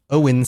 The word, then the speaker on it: Oin: Although I've looked this up a few times Oin and Gloin is a legitimate pronunciation and Oin sounds like a name